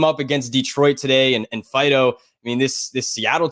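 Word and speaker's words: Faedo: opposite directions you have Alex Fido I believe is how you say his name it's you know that that dog Fido yeah so um I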